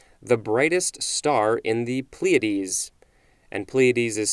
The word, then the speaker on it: Pleiades: the 14th century the brightest star in the pleiades and pleiades is spelled p-l-e-i-a-d-e-s next we have a-l-d all lower